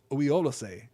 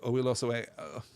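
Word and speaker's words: Oiolossë: I always struggle with this. I always want to hesitate before I say Oiolose. Oiolose is how we pronounce this, I guess.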